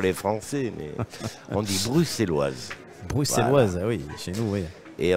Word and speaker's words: bruxelloise: beaucoup mieux et y compris l'accent et la prononciation russelloise ou bruxelloises pour les Français mais on dit bruxelloise bruxelloise chez nous oui et on dit même